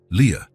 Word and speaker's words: Lia: This is your name," he explained, pointing at each letter as he pronounced them. "Li, A. Leah."